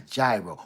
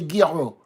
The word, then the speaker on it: gyro: That's a gyro. Or as they told me, don't come in here and say it like that. Say gyro.